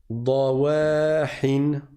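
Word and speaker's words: ضواحٍ: Là encore, faites attention à l'emphase. Ce sont les lettres emphatiques qu'on prononce de façon grave, et pas les autres. Je ne dis pas da, wa. Non, il n'y a pas wa. C'est ouais. Da, ouais. Dawahin.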